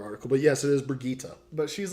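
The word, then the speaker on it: Brigitte: brigita brigita there was a there was a pronunciation guide in this oh no it wasn't another article but yes it is Brigitta but she's like a mash-up between a tank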